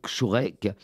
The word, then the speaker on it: Szurek: aux prisons soviétiques, l'autre orchestre rouge, par Chourek, avec la collaboration de Anne Alvax, Monique Alperne et Jerzy Tornchik. J'ai bien prononcé ?